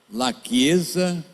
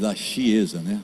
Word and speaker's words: La Chiesa: Existe um site na internet, em italiano, La Chiesa, se escreve La Chiesa, porque o CH em italiano faz C, lachiesa.it.